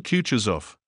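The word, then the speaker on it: Kutuzov: said anna pavlovner general kutcher's off said balkonsky speaking french and stressing the last syllable of the general's name like a frenchman has been pleased to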